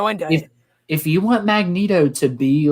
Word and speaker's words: Magneto: to storm and yeah this is how you pronounce his name magneto one of the cartoons kept calling a magneto